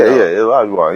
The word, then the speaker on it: Olajuwon: Yeah, Olajuwon.